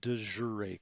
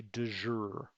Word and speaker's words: de jure: is what we call a de joure claim or a du jour claim it's pronoun it can be pronounced sort of either way let's call it a de jure claim a de jure